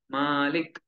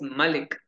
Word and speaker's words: Malik: that Maliki Nas Malik in Nas we should pronounce it correctly when we you when we uh recite Surah Malik here it is Malik Malik m-a-l-i-k in English you see how coherent